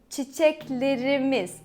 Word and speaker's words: çiçeklerimiz: And let's say çiçeklerimiz, our flowers. Çiçeklerimiz. So I stress on the imiz, the possessive suffix.